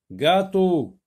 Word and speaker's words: gâteau: Alors le mot gâteau, dans le mot gâteau, il y a la lettre G, mais elle ne se prononce pas J dans le mot gâteau. G avec A, ça se lit ga. Gâteau, donc on n'entend pas le son J.